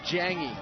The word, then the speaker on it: Jagne: a third down but it's jangy and it's it's hard to pronounce and sometimes we i think we were pronouncing it right the whole first half in the second half it's j-a-g-n-e but the end goes before the g so zhang jiangi stays